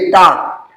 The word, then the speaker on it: talk: यच आपका साइलेंट होता है, WOULD, TALK, टाक, टाक।